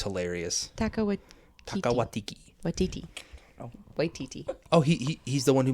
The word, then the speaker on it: Waititi: Watiki? Yeah. Okay. Takia I love that guy. He's hilarious. Taka Watiki. Watiti. Oh. Waititi.